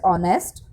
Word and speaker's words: honest: But as H is silent, we pronounce it as honest.